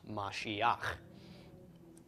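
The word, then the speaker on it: משיח: tok under the hate so we've got ma she instead of ma sheikah this is Mashiach which is the Anointed One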